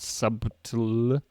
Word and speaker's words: subtle: b t l e there's a B in the middle there not pronounced not subtle it's subtle subtle why